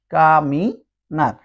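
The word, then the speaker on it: caminar: মত উচ্চারণ হবে তাহলে কা মি আর এন এ আর নার সবসময় আর মত উচ্চারণ হবে কামিনার আমরা যদি আরেকটু সহজ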